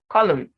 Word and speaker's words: column: had to add it then n is silent in mn autumn solemn condem him column now remember the same